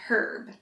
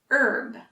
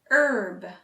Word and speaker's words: herb: the british actually use herb but for americans the h is silent herb let's try it together herb herb i like to